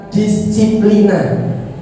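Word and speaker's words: disciplina: Disiplin itu berasal dari bahasa Latin, dari kata disiplina. Nah, insya Allah kayak gitu bacanya ya.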